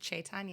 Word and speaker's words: Caitanya: Penel podcast and uh, I have my friend Caitana on. Hello. Hi. Thanks for having me on the podcast. Thank you. Thank you. And I pronounced your name correctly. Yes. Chaitana.